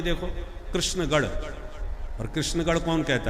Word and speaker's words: कृष्ण: कृष्ण की जगह लोग किशन बोलते हैं। पंजाब क्षेत्र में प्राय किशन किशन महाराज राजस्थान में भी देखो कृष्णगढ़ और कृष्णगढ़ कौन कहता है?